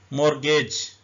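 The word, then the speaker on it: mortgage: हैं उसको मैच बोलते मॉर्गेज टी भी साइलेंट है ई भी साइलेंट है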